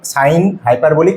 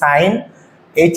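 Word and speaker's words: sinh: লিখে দিয়েছি সেটা হচ্ছে সাইন হাইপারবলিক এটা কিন্তু উচ্চারণটা এরকম হবে সাইন এইচ এক্স নট এইচ এক্স না সাইন হাইপারবলিক এক্স টু the power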